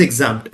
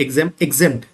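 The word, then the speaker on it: exempt: नेक्स्ट word is एग्जाम्प्ट, एग्जेम्प्ट, इट इज एग्जेम्प्ट, the pronunciation should be correct.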